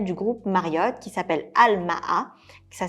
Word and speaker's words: Al-Maha: Premier hôtel, c'est un hôtel du groupe Marriott qui s'appelle Al-Maha. Ça s'écrit A-L-M-A-H-A.